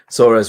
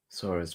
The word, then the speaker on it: Sora: She remembered how Halmoni would say her name with a soft S and a gently rolled R.